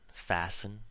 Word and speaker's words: fasten: So, of course, there are words where this happens, where the T is always silent, like these ones. Listen, soften, moisten, fasten, hasten, glisten, and often. You'll notice the endings of these all rhyme with in.